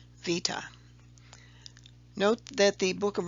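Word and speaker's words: βήτα: But modern-day Greeks actually pronounce it with a V as in victory sound, Vita.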